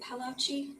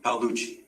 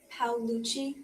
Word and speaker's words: Paluchi: So, and I'm sorry, how do you say your last name? Is it Palouchi? Paluchi. Paluchi.